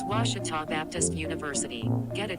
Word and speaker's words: Ouachita: i've heard people say oh a cheetah oh wichita oh a cheetah is it pronounced oh akita searching for washi at a